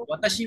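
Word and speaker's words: は: ওয়াতাশি মানে কি বলেন তো? আমি। আমি। ওয়া কিন্তু আমি এখানে না আই। পার্টিকেল। হ্যাঁ, এখানে হা হয়েছে কিন্তু এখানে ওয়া হিসেবে ব্যবহৃত হয়েছে ওয়া পার্টিকেল।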